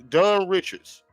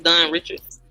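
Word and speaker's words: Dawn Richard: And so, Dun Dun Richards, right? Or Dun Richard or Dun Rashard, however you say her name. You know what I'm saying? We all know D from Danny the Kane, right? She began her testimony. Huh? I was saying it's Don Richards.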